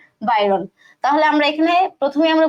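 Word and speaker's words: Byron: তাহলে আমাদের এই যে কবিতার যে কবি সেই কবির নাম হচ্ছে লর্ড বাইরন, উচ্চারণ হবে এটা লর্ড বাইরন।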